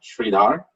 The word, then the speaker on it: Sridhar: uh sridhar varus uh my first name pronounced as shri like in sri lanka dar sridhar my last name varus